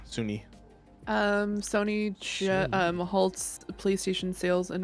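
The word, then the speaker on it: Sunhee: You mean Suni Legend? Is that how you say it? I swear there's an H in there. Yeah, it's SUNHI, Suni.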